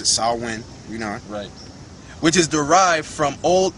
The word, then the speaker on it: Samhain: said again going back to Samhain or they pronounced Esau win which is derived from all Irish it means